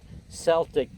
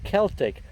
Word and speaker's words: Celtic: I should pronounce it Celtic pride. I take a little bit of fun out of that because I tease my friends up in New England because, of course, the pronunciation that I learned of this name is Celtic rather than Celtic.